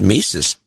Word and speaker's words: Mises: you why you said it right you said mises i thought i did yeah this is the mandela effect hey what's wrong with you i said mises i don't know what everybody else is thinking